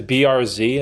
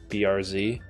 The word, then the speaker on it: Bearz: funny because the BRZ that's how you say my last name BRZ or be Z BRZ or or if I spell it b e a r z for you Americans or zedi it's phonetically it's BR r z i I'd buy a